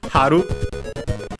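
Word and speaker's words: 春: Haru means spring as in the season and is accented on the first syllable.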